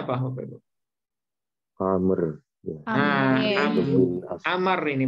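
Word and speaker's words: عمرو: Nah, jadi kalau Bapak Ibu ngelihat waw sesudah ro untuk nama orang yang seperti ini, maka bacanya Amrin, Amron atau Amrun.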